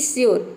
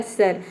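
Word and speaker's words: sure: आर ई आया है लेकिन हम यहां पे यू को अ नहीं प्रोनाउंस करते हैं अगर हम यहां पे यू को ऑ प्रोनाउंस करते तो ये हो जाता है सर लेकिन इसको हम बोलते हैं श्यर यानी कि यू में य का साउंड आता है ठीक है तो ये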